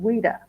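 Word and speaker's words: Ouidah: that's the town called weda and it's spelled o i d ah we like yes in French but WEA and um that's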